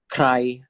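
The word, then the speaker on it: ใคร: So this is pronounced as cry, cry.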